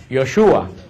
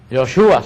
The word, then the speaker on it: Yoshua: El nombre de Jesús, que nosotros decimos Jesús, en hebreo no se pronuncia Jesús, en hebreo se pronuncia Yoshua, Yoshua se pronuncia en hebreo.